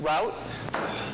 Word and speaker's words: ROUTE: okay so what is route our route because supposed to rhyme with foote real-time object delivery over